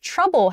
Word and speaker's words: trouble: exaggerated pronunciation Trav uh with trouble however the vowel sound first is TR it's a it's a it's a u sound TR so it's not tall like travel travel is very tall